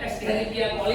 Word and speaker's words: Escherichia coli: coli ya, bacanya Escherichia coli atau E. coli ya, pakai K bacanya.